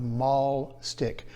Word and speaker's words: mahl stick: talking about is a device called a mall stick it's not like a shopping mall it's spelled m-a-h-l and what it does